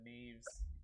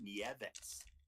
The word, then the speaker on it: Nieves: Melvin Neves. Man, we need to find another. Oh no, that was Melvin Nieves. That's how they pronounce it.